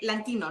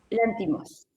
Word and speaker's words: Lanthimos: Y estamos hablando de Georgos eh Lantino, ¿no? No sé si lo pronuncio bien. Látimos. Lantimos. Látos, exactamente, griego.